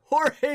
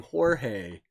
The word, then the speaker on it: Jorge: I think I just called him a bad name. You don't want to stop saying Jorge before you get to the second syllable.